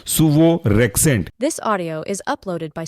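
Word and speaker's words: suvorexant: example है आपका सुवोरेक्जेंट spelling है सुवो एस यू वीओ और rent R ई एक्स ए एन एक साथ पढ़ेंगे तो कहलाएगा यह आपका सुवो rent this audio is uploaded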